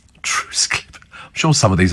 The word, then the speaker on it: Trottiscliffe: and uh warm hugs from trottiscliffe in Kent pronounced truce Cliff truce Cliff I'm sure some of these are made up